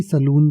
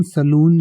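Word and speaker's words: सैलून: और इसका pronunciation सलून ही होता है।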